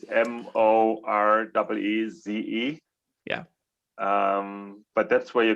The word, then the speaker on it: Maurice: It's spelled a bit funny. It's Moreeze.